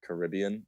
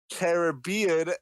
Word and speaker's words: Caribbean: here first if you that it's Caribbean and not Caribbean these other fake feds